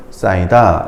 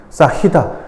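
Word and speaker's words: 쌓이다: 너, 조은, 싸이다 이런 게 이제 예문으로 나왔죠. 이때 너허, 조흔, 싸히다 이렇게 발음하면 틀린 발음이야. 연음하면 틀린 발음이고 탈락해야 맞는 발음입니다.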